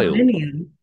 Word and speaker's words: aluminium: Aluminium. Aluminium. Aluminium. It's almost Yeah. like you add a syllable in there.